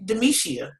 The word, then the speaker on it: Demishia: was just like hmm if you can say the gisha then you can say demetia so therefore i stopped